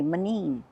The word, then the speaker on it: menino: And like my baby Jesus, there's an O at the end. Menino. We don't pronounce. We say manin.